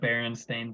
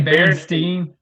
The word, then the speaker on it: Berenstain: Oh yeah, you say Berenstain? How you say it? Berenstain Bear. I say Berenstein. Berenstein. Yeah. It's been a while since Berenstein. I think I always, as a kid, I said Berenstain Bears.